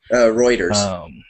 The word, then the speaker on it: Reuters: Reuters. Reuters. Okay. See, I can't even pronounce it right.